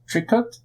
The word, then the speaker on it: tricot: So I think actually Maso mentioned like Tricot or Toriko.